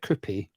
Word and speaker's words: Kroupi: all you need to know about sloth from bling iron right KY am I even pronouncing it right is how you pronounce your name is it KY yeah it's KY right then let's start with